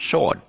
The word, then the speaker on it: sword: but actually it's not the w is silent and w silence so